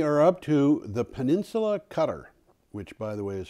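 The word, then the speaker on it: Qatar: closer closer it's a gutter gutter okay let's do it this Arabic cue is almost a G okay almost I know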